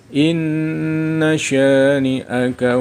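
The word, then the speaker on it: إن شانئك: Kelima, inna syani'aka. Hukum bacaan hunnah asli, karena ada nun tasydid. Cara membaca nun tasydid dibaca mendengung.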